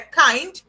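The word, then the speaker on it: kind: e assim escreve igualzinho só que em inglês a gente pronuncia cai e não tem nada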